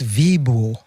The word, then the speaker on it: Vivo: It is Vivo. Even though it's spelled Vivo, it's Vibo.